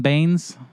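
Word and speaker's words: Benes: coronavirus tests and elaine how do you say elaine's last name veins right elaine baines yeah elaine baine's 1995 dilemma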